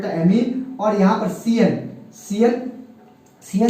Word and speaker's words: ammine: क्या बोलते हैं, एमीन। एमीन की स्पेलिंग यहाँ पर AMM होती है। एक और एमीन पढ़ेंगे जब अपन एमीन चैप्टर, तो वहां पर AMINE लिखते हैं, यहाँ पर AMMINE लिखते हैं, है ना।